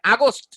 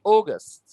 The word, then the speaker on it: August: যেমন আমরা একটা মাসের নাম লিখলাম জুন, একটা মাসের নাম লিখলাম অগাস্ট, আমরা অনেকে উচ্চারণটা করি আগস্ট, অনেকে নানান রকম, 15ই আগস্ট, ও হো হো, August, এটার উচ্চারণ হচ্ছে অগাস্ট, ও ও অগাস্ট, August, রাইট?